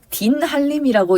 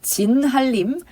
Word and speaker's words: 진한림: 밑에 이정언, 딘한림이라고 읽지 말자고 했죠. 진한림, 황운주, 필 되어 있는 거 마찬가지 땡땡땡 필만 괄호하시면 글이라는 뜻이거든요.